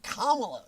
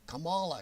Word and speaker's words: Kamala: in in the year oh then you get kamala don't say it wrong kamala kamala you get cammy we got present cami